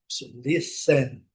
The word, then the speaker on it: listen: Listen. Essa aqui tem até uma observação. Listen. E temos também a letra T, que não é pronunciada, né?